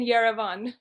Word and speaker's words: Yerevan: Yeah, he's in Yerevan.